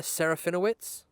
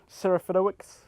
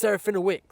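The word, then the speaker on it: Serafinowicz: I might butcher this, but I believe Peter Saraphinowitz. Yeah, I like that. I'm happy with that pronunciation. You forgot the C at the end, but yeah. How do you pronounce the C? Saraphinowix.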